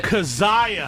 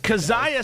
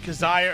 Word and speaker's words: Kizziah: me your last name I tried to say kazah did I say it right you did not okay I'm sorry for